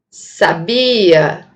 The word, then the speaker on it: sabia: Agora, se eu mudar o acento, a posição do acento fonológico para essa sílaba, eu vou ter a palavra sabia, verbo saber, né, no pretérito.